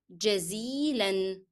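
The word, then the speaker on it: جزيلًا: another word which is jazilan. Shukran, jazilan, and both words has to be pronounced with N and never drop any of them.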